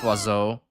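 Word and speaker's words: oiseau: Revolution Birds is spell Birds spell in French is was so yeah but it's pronounced wazo yeah they they overdo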